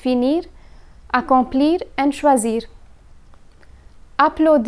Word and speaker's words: choisir: in this category is choisir choisir means to choose when conjugating this verb one must pay attention to the letter S a single s is pronounced as Z while SS is pronounced as sir so here's the conjugation